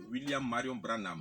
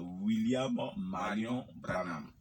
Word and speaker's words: William Marion Branham: disciples de l'église de William Marion Branham, je pense que je prononce bien, c'est ça? C'est William Marion Branham. Voilà, William Marion Branham.